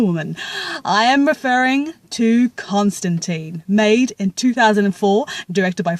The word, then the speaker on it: Constantine: apprised that John Constantine's last name is actually pronounced Constantine as per the original pronunciation by Alan Moore. But here's the thing, maybe I'm an ignorant person, but I've always felt that the name Constantine tends to roll off my tongue a lot